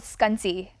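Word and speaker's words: Scünci: ambassador yeah for scrunchie it's called skunty but everybody gets it wrong so you're not the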